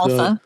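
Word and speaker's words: ALPFA: Alpha. Is that Is that how you pronounce the Alpha?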